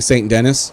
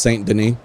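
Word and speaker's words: Saint Denis: about ashes I I said I was saying St Dennis and then I forget who in the chat but like by the way I just want you to know what pronounced St Den so that's ex that's literally what I'm talking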